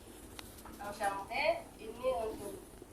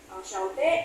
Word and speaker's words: enchanté: Enchanté ini penulisan untuk yang laki-laki. Kalau untuk yang perempuan tetap sama dibacanya ya, tapi kalau untuk penulisan tambahin e lagi, tapi bacanya tetap sama.